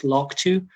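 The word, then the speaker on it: LRRK2: on a gene called llrk2 this is we pronounce this log2 um this is something i'll tell you a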